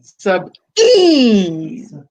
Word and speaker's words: Sabine: The I is a long E sound. Yeah. You've dropped the E poutine. once. Like poutine. Emphasize the A once. Oh, okay. Sub E.